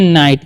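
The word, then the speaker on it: night: हम पढ़ेंगे गुड और एनआई जी एस टी को हम लोग पढ़ते हैं नाइट क्या पढ़ते हैं नाइट पढ़ते हैं यहां पर जीए जो है ना साइलेंट रहता है ठीक है तो गुड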